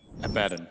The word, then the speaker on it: Abaddon: Or Abaddon, depending on how you pronounce him. Abaddon.